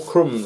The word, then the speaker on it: crumb: chrome after m chrome chrome you're getting small crumbs on you crumb or limb limb like an